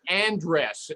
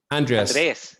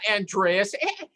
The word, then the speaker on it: Andres: him andy andy johnson but it's really andres how do you say your name andres anthony no it's not andreas michael g cox thinks